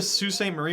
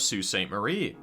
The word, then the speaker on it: Sault Ste. Marie: We went over to Sault Ste. Marie, which you don't know is spelled like this.